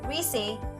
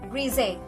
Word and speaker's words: greasy: Like for example, some speaker pronounce greasy with an S sound, while other pronounce it with a Z sound like greasy.